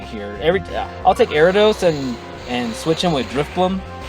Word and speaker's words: Ariados: I call him Ariados because I think of Gyarados, so I call him Ariados.